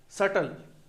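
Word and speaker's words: subtle: सटल B silent में है।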